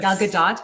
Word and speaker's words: Gal Gadot: Gal Gadot.